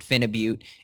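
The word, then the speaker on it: Phenibut: So me and my dad took a little pinch of Finabit. Some people pronounce it Finabute, and I'm not trying to get away from your question, but this is in the same category of nootropics here.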